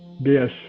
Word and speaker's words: Gish: Gish is how it's pronounced.